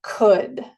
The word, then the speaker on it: could: Otra vez no se pronuncia la L y se pronuncia could.